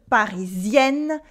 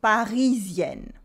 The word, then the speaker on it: Parisienne: In French, words are stressed on their last syllable. So we say, for instance, une Parisienne, and not une Parisienne.